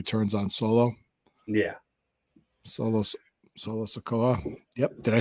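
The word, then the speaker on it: Solo Sikoa: Solo Solo Sakoa. Yep. Did I say his name right? You did. Yes. Solo Sakoa.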